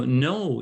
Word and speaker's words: know: So no is pronounced no. I know you. I know how to sing. I know how to dance. I don't know, but it's spelled K-N-O-W. But the K, do we pronounce it? We don't say know. We say I know. So that's an example of a consonant K that we do not pronounce when it's with the N, like knowledge.